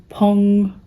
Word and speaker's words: Phang: It is made of, it is a Pong spindle. I thought of Halloween because it's spelled Fang, and I thought, ooh, I could grow fangs for Halloween.